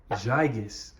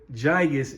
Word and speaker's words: gigas: over to the gigas gigas i just learned that you supposed to pronounce it with the like with the letter j kind of like gigantic even though it starts with a g so philodendron gigas as